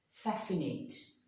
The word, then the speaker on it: fascinate: fascinate I'll see here the C is after an s before an I so the C is silent here fascinate science the C is